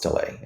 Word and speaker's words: Oztalay: I H, and my last name is Olay, and that's spelled O.